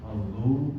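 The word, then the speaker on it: فضل: Fadlu hurufnya dhad. Dhad itu istitolah. Lisan kita kanan atau kiri kita arahkan ke geraham ini ya.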